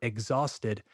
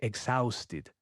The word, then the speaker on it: exhausted: We usually use the word exhausted to say that we are really, really tired.